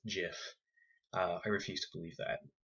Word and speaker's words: GIF: Apparently, the creator, Wilhite, says it's pronounced GIF. I refuse to believe that. Graphical is a hard G, so it's GIF, in my opinion.